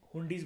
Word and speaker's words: हुंडीज: Pronunciation है, कुछ भी बोल लो, कई लोग ज़्यादा पॉश बनने के लिए हुंडाई बोलते हैं, ठीक है, हुंडीज बोला जाता है वैसे इसको, मिडिवल इंडिया की टर्म है क्योंकि ये हुंडी।